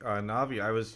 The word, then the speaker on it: Navi: I've heard a lot of different ways it's pronounced, but Navi's fine.